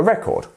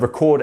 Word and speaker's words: record: as you can see the word record and record are similar and they have very similar meanings because the verb to record is to make a record you see um but we have a different stress in each of those words so really really really